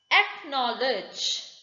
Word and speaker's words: acknowledge: the flower next rule c is mute usually before the letters k and q if c happens to come before the letter k or letter q you just tend to ignore it that is lock l o